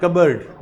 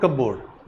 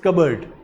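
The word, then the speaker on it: cupboard: keeps close in pronunciation कबर्ड नॉट कबड इट्स कबर्ड प rim silent लिखना भी कबर्ड द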